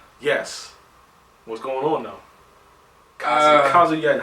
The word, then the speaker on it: Kazuya: We used to always say Kazuya or Kazuya back in the days. We didn't know how to pronounce it. It's Kazuya. Kazuya.